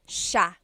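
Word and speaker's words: siya: It looks like it should be pronounced sa cia, but it's actually pronounced sha sha. So the s i y, it's a sha sound.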